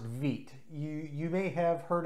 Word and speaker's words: wit: wheat beer style but it is pronounced vite for the color white nonetheless let's get this